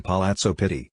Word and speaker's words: Palazzo Pitti: The Palazzo Pitti, Italian pronunciation Palazzo Pitti, in English sometimes called the Pitti Palace, is a vast, mainly Renaissance, palace in Florence, Italy.